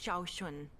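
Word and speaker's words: Sean: are you all right Miss shun my name is Shaun this is the proper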